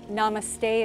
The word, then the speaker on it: namaste: Namaste is how we end the class, and it's spelled N-A-M-A-S-T-E.